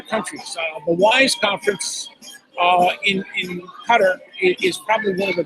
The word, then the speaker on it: Qatar: Well, I've been to well, it's Qatar, but many Americans say Qatar.